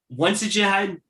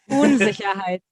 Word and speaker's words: Unsicherheit: Unsicherheit? I probably am way off. Did I say it right? No, not really. It's Unsicherheit. Yeah, but that's fine.